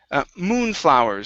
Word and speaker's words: moonflowers: Next up, we have moonflowers. So the stress is at the very beginning.